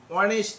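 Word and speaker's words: honest: উচ্চারিত হয় না সেইজন্য এন মিস্টার কামাল ওয়াজ অনেস্ট ম্যান অনেস্ট এখানে এই না থাকলে অনেস্ট এই থাকলেও অনেস্ট এই উচ্চারণ হয় না যার কারণে কি হয় এন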